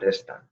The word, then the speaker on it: están: Están, not están, están. A trained ear, once you practice this enough, you'll be able to tell the difference if you can't already.